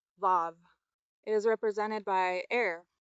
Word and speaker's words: Vav: After that comes V, pronounced vav.